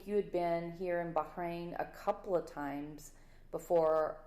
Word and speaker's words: Bahrain: I say it like an American. It's hard for me to put that hard H in there. Bahrain.